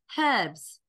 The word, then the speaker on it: herbs: sorry Russian name anyway herbs so we say herbs yep and they say herbs yep they remove the H yep either way I